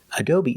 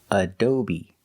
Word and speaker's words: adobe: Adobe is a computer program. Pronunciation, adobe. The first syllable is like up and cut, dough. The second syllable is o, long O, like go and show, adobe.